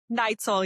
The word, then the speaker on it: Neitzel: Neitzel, yeah. Neitzel. Okay, see, I never know how to pronounce it.